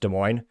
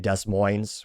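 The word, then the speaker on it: Des Moines: factor if you're from Iowa you know it's pronounced de mo if you're outside of Iowa people mispronounce it calling it desines which fun fact today I suppose and this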